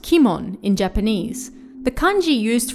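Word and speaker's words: 鬼門: first of all what is the demon's gate pronounced kimon in japanese the kanji used for it literally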